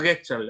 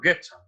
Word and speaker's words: Gestalt: El secreto se pronuncia Getchal, así como un insulto. Getchal.